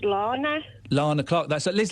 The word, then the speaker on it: Lana: Spelled Lana. Yes. So I'm assuming it's pronounced Lana.